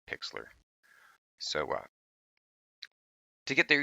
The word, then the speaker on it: Pixlr: I want to share with you is called Pixlr it is spelt like this p IX L R and